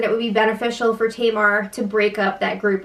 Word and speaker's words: Tamar: How is Kato still saying Tamar's name wrong? Are you serious? He's like, Tamara.